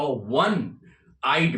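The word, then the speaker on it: one-eyed: Now similarly he is a one oneeyed man. There is a sound of W which is a consonant sound. He is a oneeyed man.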